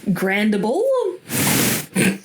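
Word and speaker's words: Grandible: So story starts with an cheese maker named Grandable. A lot of these names are really weird. Please bear with me. Okay. Grand like uh grand and bull as in the animal or grand i l e.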